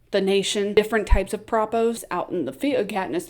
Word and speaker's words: propo: I You know, the whole time I was reading it, I wanted to call them propos. They're pronounced propos, short for propaganda, propaganda spots.